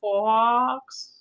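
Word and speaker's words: faux: Marianne says, I'm so waiting for you to do a project using that suede stuff, Fox. The suede stuff? The X is silent? Yes. That's really weird. It is silent.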